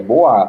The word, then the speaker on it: Bois: É Boa, tá? Tem O-I-S, você fala O-A.